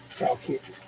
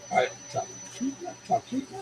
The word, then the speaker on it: Talkeetna: Just right outside of Tal, Talkeetna. Talkeetna?